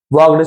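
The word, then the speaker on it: walked: वॉक्ड second form है। L silent होता है।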